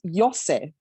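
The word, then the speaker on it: Iose: in there yep and the last name is i-o-s-e and it's pronounced yose so it's yeah so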